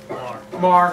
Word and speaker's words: Maher: And Sean is a, did I pronounce it correctly? Maher.